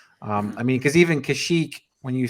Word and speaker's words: Kashyyyk: seen the word uh kashyyyk in the star wars game i pronounced it i i assumed that that middle y was its own syllable and pronounce it kashi eek wow so i i